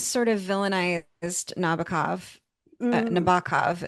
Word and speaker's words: Nabokov: mm, Nabokov is apparently the way you're supposed to pronounce it, oh, isn't it?